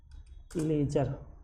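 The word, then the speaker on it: ledger: लेजर क्या होता है लेजर तो लेजर डी इसमें साइलेंट होता है लेजर नहीं पढ़ना आपको लेजर हम पढ़ना है लेजर तो ये काउंटिंग की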